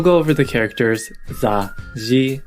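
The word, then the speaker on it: じ: Shi with the Dakten is pronounced ji.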